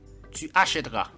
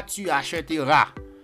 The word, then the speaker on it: tu achèteras: le équipe précède dans le R ne se prononce pas j'appellerai tu achèteras ouais j'appellerai ok j'appellerai le et qui précède